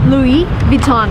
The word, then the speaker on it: Louis Vuitton: So, the right way to pronounce the name of the shop is Louis Vuitton. Again, everything is French, come on. So, everything needs to be pronounced in a French way if you want to